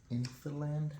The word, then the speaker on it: INFILAND: plastic see-through and this is of an inin infiland have that's how it's pronounce there it is right there I'll put